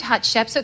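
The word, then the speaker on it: Hatshepsut: lost queen of Egypt lost queen of Egypt hot chef so can you say Hot Chip suit yeah yeah because most people can't pronounce when they say have I see humble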